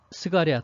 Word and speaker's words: 스가랴: 연로한 제사장 부부, 이 스가랴 또는 사가랴라고 읽기도 하죠.